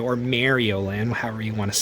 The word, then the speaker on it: Mario: Just pronounce it right, dude. Not saying that you can't pronounce it however you want to. If you want to pronounce it like that, that's fine. But it's like, dude, sometimes I cringe when he says Mario because it's like, you guys know it's Mario, right? Not Mario.